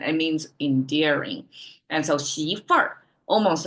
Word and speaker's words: 媳妇: Okay, daughter-in-law, we have 媳妇. Okay, 媳妇. With this added at the end, you can tell that's northern China dialect, which will curl the town at the end of the pronunciation.